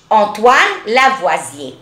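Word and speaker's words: Antoine Lavoisier: برافو عليكم انطوان لافوازيه. انطوان لافوازيه وده عالم فرنساوي فعشان كده بنلاقي ان النطق اسمه فرنش انطوان لافوازيه.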